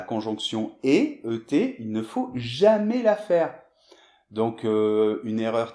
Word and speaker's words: jamais: C'est jamais, avec ET, jamais. Non, jamais. Et je l'entends tout le temps dans mes cours, cette erreur, donc vraiment attention à ça.